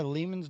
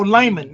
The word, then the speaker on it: Leman: Yeah, Leman's dope, bro. Is that how you say his name? Leman. Leman. No, Layman. Like layman terms.